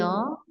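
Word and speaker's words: ㅛ: Jadi ini huruf Yo, pengucapannya seperti ini Yo.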